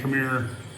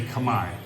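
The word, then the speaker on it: Khmer: And I'm picking up more kab, you know, kami stuff. It's spelled Camar K Her, but it's pronounced Kami. So if anybody's out there saying, you know, hey, Camir, Camar Rouge, or whatever, it's Kami Rouge.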